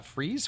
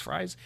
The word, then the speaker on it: Fries: executive ed for uh freeze fries he was in he was in that xbox documentary i keep i think they said freeze is how you say his name anyway has expressed concern